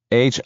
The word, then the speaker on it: Hieronymus: HIERONYMUS and BOSCH. Hieronymus, like the painter.